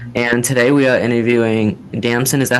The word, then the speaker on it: Damson: He's my co-host for today, and today we are interviewing Damson. Is that how you pronounce it?